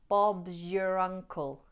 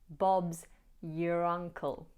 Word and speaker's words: Bob's your uncle: Bob's your uncle. Bob's your uncle. You'll notice that the S at the end of Bob's is pronounced as a Z, z, which blends nicely into y.